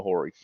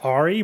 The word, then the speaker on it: Hori: you call them a Hori. That's how bad. Fair that enough. shit is. It cracks me up every time I hear it. I think it's pronounced Ori, but yeah. It's spelt definitely Hori.